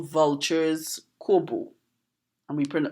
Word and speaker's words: corbeau: Trinidad we call vultures Kobo and we PR we don't pronounce it like the way that the French pronounce it we pronounce it kobu now what do you